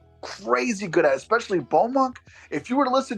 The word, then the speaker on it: Bauxmonk: Beaumonk. So it's a BAUXMONK. That's how you say it, all one word.